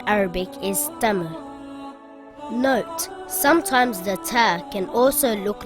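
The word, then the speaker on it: تاء: not be pronounced heavy in english it sounds like the letter t like in the word taxi or the word tank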